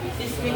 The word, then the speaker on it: seismic: Seismic activity of an area is the frequency type Seismic. and size of earthquakes.